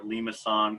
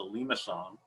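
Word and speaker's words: limaçon: It's a limason, a little cedilla under the C. It softens up the C, in case you're wondering how that's pronounced en français.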